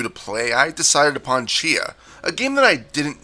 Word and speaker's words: Tchia: for something new to play I decided upon Chia a game that I didn't know how to pronounce at first until I found out within